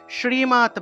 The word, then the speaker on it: শ্রী: আছে আছে গোপাল গোপাল তাহলে এটা হলো তালবস উচ্চারণ অর্থাৎ তালবস উচ্চারণ হলো স্রী এইভাবে স উচ্চারণ হবে শ্রীমত ভগবত গীতা শ্রীমত ভগবত